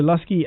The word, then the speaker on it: Luscii: Download the Lusky app right now and connect to this service. Lusky is spelled Luscii.